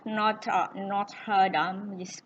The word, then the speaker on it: Notre Dame: Nah, ini The Hunchback of Notre Dame, bacanya pakai bahasa Prancis, tahun 96.